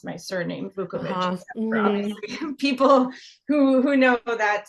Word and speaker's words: Vuković: fact that nobody seemed to be able to pronounce my surname vukovich people who who know that part of the